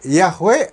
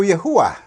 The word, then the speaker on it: Yahweh: dalam kepercayaan dan amalan keagamaan khususnya kekristianan jadi yahwe atau yahua nama atau yahua adalah satu usaha untuk merekonstruksikan pengucapan atau penyebutan yang mungkin lebih mendekati asli